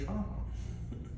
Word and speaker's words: Trahan: have a big like of my family that's Tran but we pronounce it tra in Louisiana okay t r